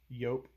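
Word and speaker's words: Joop!: So, thing about Yope, as it's supposed to be pronounced, Yopem is I was given this bottle for like my I don't know 16th birthday, something like that.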